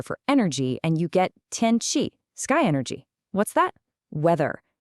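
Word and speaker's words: 天气: Combine sky, tiān with the character for energy, and you get tiān qi, sky energy.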